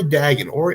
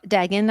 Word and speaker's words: Dagan: If you don't know Ori Dagan, or Dagan, I think his name is pronounced, he's a very charismatic band leader, vocalist, local personality, promoter.